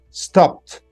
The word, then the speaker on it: stopped: D okay study studied stop sto stopped you pronounce it t but the all right